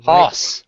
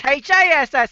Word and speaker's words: Haas: I thought it was HASS this whole time.